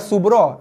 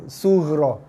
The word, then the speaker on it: sughra: Qalqalah bukan subra, dia ghin, sughra. Sad, ghin, ra, ya, sughra ataupun SUGH. Kalau ejaan Melayu dah, SUGHRO, sughra. Bukan ba, bukan sub, dia sughra, ghin, huruf ghin.